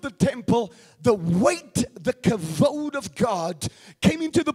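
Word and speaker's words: כבוד: we pronounce it as kabad but it's really in the Hebrew when you speak Hebrew you say it this way cavod somebody say cavod so it's not the kabod of God like we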